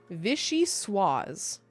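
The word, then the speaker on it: vichyssoise: Give me the pronunciation, please. Vishy swaz.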